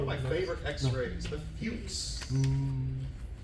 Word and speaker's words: Fuchs: The fuchs. Not the. Not. Don't pronounce it like the curse word.